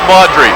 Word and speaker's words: Maugeri: Maugeri, it's pronounced Maudry.